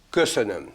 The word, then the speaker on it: köszönöm: Köszönöm.